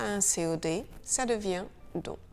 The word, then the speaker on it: dont: un COD, ça devient don. Le T de don, il est silencieux devant une consonne. Le livre dont je t'ai parlé, mais on le prononce devant une voyelle puisque l'on fait une liaison.